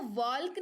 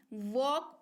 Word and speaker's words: walk: WALK, इसको वॉल्क नहीं, वॉक पढ़ते हैं।